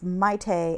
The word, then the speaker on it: Maite: female Chilean filmmaker um I actually know how to pronounce her name it's it's Maite m-a-i-t-e um Alberti she made